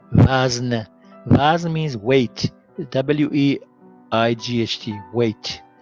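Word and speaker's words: وزن: And also we have v, a, z, n, wazn.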